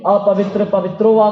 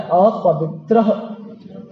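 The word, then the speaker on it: अपवित्रः: रखने की जरूरत है हम उच्चारण बहुत गलत कर देते हैं इसका कभी कभी बोलते ही नहीं है अपवित्र पवित्रो वा कर देते हैं लेकिन इसका उच्चारण होता है अपवित्र ह का उच्चारण इसमें आता है तो अपवित्र ठीक है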